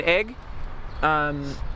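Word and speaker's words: Aigle: it's spelled igil it's which is pronounced egg what she's allergic to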